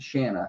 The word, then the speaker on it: Shanna: It's funny, the Shanna with a CH because other teams pronounce it Channa. Channa. They say Channa. Channa. I'm like, it's Shanna.